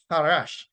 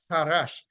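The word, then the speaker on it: חרש: And the word from which peace comes, that is transliterated to C-H-A-R-A-S-H, and it is pronounced harash, harash, harash, meaning, and I'll just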